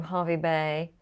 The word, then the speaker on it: Hervey Bay: uh the one from Harvey Bay why is it called Harvey Bay when it's spelled hervey Bay that's something that's just